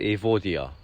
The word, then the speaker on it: Evodia: If you wonder what that tree is, this is called, well, we pronounce it Evodia.